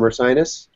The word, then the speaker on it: Ursinus: And then on Wednesday at noon, I'll be chatting with Julia and Rebecca from Ursinus. Am I pronouncing that correctly?